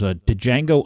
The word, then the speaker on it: Django: It was Django Unchained, and he played Steven. It's Django. The D is silent.